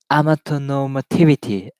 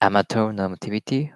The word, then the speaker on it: amatonormativity: 明日は日本語でやります。でね、amateur normativity ってあるけどね、let's look up the pronunciation of this very mysterious word. So, Yeah, totally. There's a word what? called amatonormativity. Amateur normativity, okay.